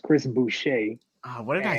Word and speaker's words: Chris Boucher: just going jordan clarkson um mine it's actually pronounced chris boucher uh what did i say booster booster chris um that's my sixth man